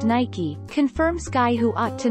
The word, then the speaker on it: Nike: way of saying the brand name Nike is pronounced Nike confirmed sky who ought to know that our